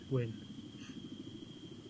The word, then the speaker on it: Nguyen: Yeah, it was him, You mean, Win. Win, whatever. I don't know how to say the Korean names. In Vietnamese. Vietnamese. It's right, guys. So... It's something weird. It looks like... Win.